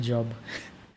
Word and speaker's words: Job: later on like it's the word is pronounced job that's something that always